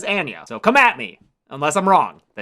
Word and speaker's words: Anya: And yeah, I'm pretty sure her name is pronounced Anya, not Anya. That's not just like my Michigan A's coming out.